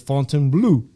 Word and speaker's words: Fontainebleau: I think they said Fontainebleau. Fontainebleau. I've been going around saying Fontainebleau. That's what I thought it was. Fontainebleau. It's kind of ghetto. It's Fontainebleau. Nonetheless, man, my first time at the Fontainebleau, free parking, tons of free parking, bro.